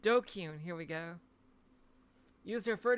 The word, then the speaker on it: DQN: is it tips list dqn pronounced dokyun here we go use